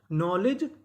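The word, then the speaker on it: knowledge: अगर आपको एन से पहले के लिखा मिले तो हमें के का उच्चारण नहीं करना होता, हमें उसके बाद का उच्चारण करना होता है।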